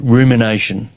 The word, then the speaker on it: rumination: Ruminate rumination. That is pronounced rumination. Sorry, folks.